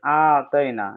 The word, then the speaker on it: أعطينا: এরপর এই যে আ, তাই না, এই আইনের উচ্চারণটা নিয়ে আসতে গিয়ে এরকম শোনা যাচ্ছে, মনে হচ্ছে যেন আপনি বলে টান দিচ্ছেন, এরকম এরকম না।